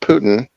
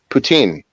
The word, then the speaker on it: poutine: you say Putin uh it's not it's not Putin poutine right oh sorry it's poutine right so it's like gravy on cheesecake in 10.